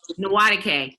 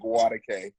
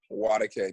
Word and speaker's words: Nwadike: His name is Isaac Nwadike. I said it right? No. It's Isaac Nwadike. Nwadike. The N is silent.